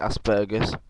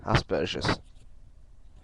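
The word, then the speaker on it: Asperger: Americans and Australians they seem to call it Asbergers um and then I've seen videos by um other people and it's been pronounced aspes I've always known it to be pronounced asperous so um so I'm going to go with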